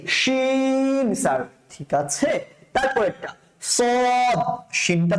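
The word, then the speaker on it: ص: basically কিভাবে করবো আমরা সদ স মোটা করে সদ স এভাবে করে স এভাবে উচ্চারণ করবেন হ্যাঁ স সদ সদ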